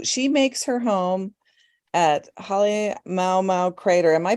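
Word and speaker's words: Halemaʻumaʻu: So she makes her home at Halemaumau Crater. Am I pronouncing that right, Elizabeth? It can be either Halemaumau or Halemaumau. There's different ways to say it depending. So you didn't do it wrong.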